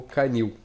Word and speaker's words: canil: Si j'ai le mot canil, canil, il est oxytone, c'est-à-dire la syllabe la plus forte, c'est la dernière.